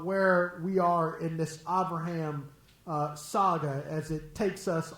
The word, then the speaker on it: Abraham: in the Hebrew, Avraham, Av with a V, not with a B. Bear was asking me, how come I pronounce Abraham with a V and not with a B?